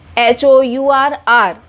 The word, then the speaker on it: hour: In the same way, an hour, hour, h is silent and that's why for r we use n.